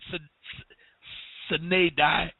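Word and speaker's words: sine die: you look that up I pronounce it s sedi but you may want to pronounce it another way but if you look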